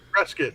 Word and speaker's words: Prescott: And there's like, Yeah, if you don't pronounce it Prescott, dude, they get like angry about it, dude.